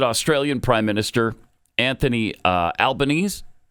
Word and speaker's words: Albanese: So, yesterday, President Trump hosted Australian Prime Minister Anthony uh Albanese. How do you say his name? Is it Albanese?